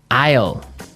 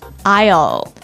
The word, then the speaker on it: aisle: Aisle. Aisle. It's a tricky word. It sounds like the contraction of I will. Yeah, but it's spelled so strangely. Right. We don't pronounce the S. The S is silent.